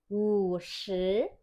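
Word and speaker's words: 五十: Jangan lupa nadanya karena dia nada 3 dan 2. Ini sudah Laos jelaskan juga ya untuk pembacaannya. Membaca nada 3 dan 2. Bacanya seperti ini. Wu shi, wu shi. Jadi seperti kayak oh ya gitu ya.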